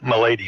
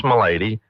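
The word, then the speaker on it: Melady: So it's sounds like my lady depends on how you pronounce it, but it's James Mady uh built the house in approximately 1870.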